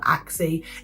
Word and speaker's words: ACSI: a scheme called the I call it acsi people laugh at me they call it axie it's spelled acsi so that's what I'm going to call it and basically if you